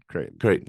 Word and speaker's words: Creighton: How do you pronounce that school? Creighton.